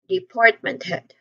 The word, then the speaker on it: department: uh with that we try to combine all those things we get department head department head remember the second syllable is the stressed one here department head okay for company structure